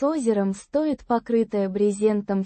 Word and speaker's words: Брезентом: Pronounced Брезентом. with the stress on the first syllable.